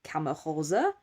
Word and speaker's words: CaMaRose: for your help Lola so it's actually the brand is actually kamaha and it's ok much